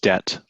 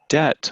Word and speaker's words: debt: overload their debits pronounced debt the B is silent debit debit is your